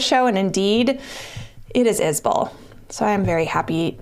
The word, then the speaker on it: Isbell: mary and told me it's pronounced is bull instead of is belle it's spelled i-s-b-e-l-l and